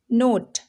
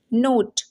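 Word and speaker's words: note: ठीक है, जैसे फाइन, नोट, क्या है, रेट। अब देखिए फाइन ना पे रुक जा रहे, ई की प्रोनाउंसिएशन नहीं हो रही है। नोट, ई की प्रोनाउंसिएशन नहीं हो रही है, ये साइलेंट है यहाँ पे।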